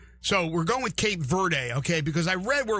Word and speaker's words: Cape Verde: I looked it up, everything said Verde, you don't pronounce the E, but anyway, I mean, don't believe everything you read, I guess, on the internet.